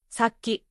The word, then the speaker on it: さっき: Saki feels like sa key.